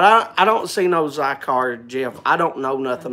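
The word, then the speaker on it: Zicar: to hi hey randy zycar zycar thank you jail did you hear me zy car z-i-c-a-r zy-car is how it's pronounced zy car so this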